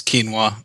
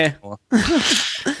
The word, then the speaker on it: quinoa: Can I just say real quick, it it's quinoa. It's quinoa. Several people have told me this. It's it's quinoa. It's not quinoa.